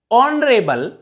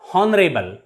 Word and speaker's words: honorable: r air not here honorable not honorable pay attention to the pronunciation of these words in these words h is always silent that's why we use